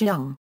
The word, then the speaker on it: Jing: Equals gongs equals, Quangari a euro a small gong used primarily in folk music, Jing a euro a large gong. Originally pronounced Jung.